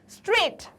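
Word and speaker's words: straight: स्ट्रेट, स्ट्रेट, स्ट्रेट में आपको क्या नहीं सुनाई दे रहा? स्ट्रेट। स्ट्रेट में आपको जी सुनाई नहीं देता है। जी का क्या प्रोनाउंसिएशन होता है? ज, ग, या तो ज या तो ग। क्या आपको स्ट्रेट में कहीं पे भी ज ग सुनाई दे रहा है? नहीं, स्ट्रेट कहीं नहीं सुनाई दे रहा, तो जी क्या है? साइलेंट लेटर है।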